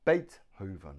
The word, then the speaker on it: Beethoven: look at his name Beethoven one two three Beethoven Beethoven now the stress is on the first syllable Beethoven has Beethoven three